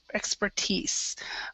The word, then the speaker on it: expertise: this one right here we would say expertise expertise yeah so pretend like that I isn't there and this is a correct e expertise okay and also also just